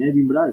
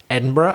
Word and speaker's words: Edinburgh: So you put a burra there. You don't say Edinburgh. No. You say Edinburgh. Yeah. 4 syllables.